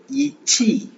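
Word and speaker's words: 一起: ஸோ நம்ம ஏற்கனவே பார்த்துருக்கோம், Q வரும்போது நம்ம தமிழ்ல இச் சவுண்ட், சி ஆர் சீஸ்ல வர்ற சிஹெச் சவுண்ட். ஸோ இச்சி.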